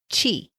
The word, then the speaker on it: qi: And from a traditional Chinese medicine perspective, the theory is based on the concept of chi, not cheese that you would put on a cracker, chi.